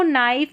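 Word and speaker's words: knife: तो यहां पर देखिए के एन आ रहा है। स्टार्टिंग में न पढ़ेंगे क्योंकि के साइलेंट है। नो नाइफ नी नॉक।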